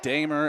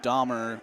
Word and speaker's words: Damer: I did get confirmation from him earlier today that his name is pronounced Damer and not Dmer.